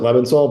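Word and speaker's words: Lebensohl: How do you pronounce it? I pronounce it Levinsoll, but All right, so Zia Just bids 4 hearts.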